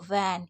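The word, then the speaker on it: when: उसके बाद W के बाद ई हो गया तो वैन, क्योंकि H साइलेंट है।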